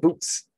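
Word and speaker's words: Boötes: in the constellation of Bo Oates. And I don't have a very satisfactory name, pronunciation of it. Is an ancient Greek name. There's an umlaut in there. But boats. Some people call it boots.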